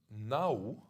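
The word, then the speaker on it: Nhawoo: Nau, I write it N-H-A-W-O-O, Nau, because the first N is with your tongue outside, so a kind of interdental Nau.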